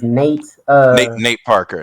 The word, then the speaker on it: Nate Parker: say his name because I know it's not Nat Turner, but the movie was Uh, centered around Nat Turner. His name is Nate Parker.